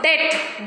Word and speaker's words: debt: Next, if it comes before the letter T also, debt, doubt, like this.